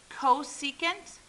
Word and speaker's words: cosecant: This is pronounced cosecant, and cosecant is just, it's 1 over sine, or think of it as this way.